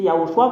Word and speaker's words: Yahoshua: de yahoshua ZAD dit c'est yahoshua qu'on le prononce même les Hébreux savent